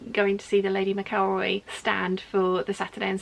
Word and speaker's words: McElroy: McElroy getting it right been told the correct pronunciation McElroy God I hope I got that right mum's